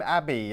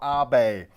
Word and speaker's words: Abe: just the other day they called him Abby as in Westminster Abbey it's not Shinzo Abbey it's Shinzo Abe all right Mexico he's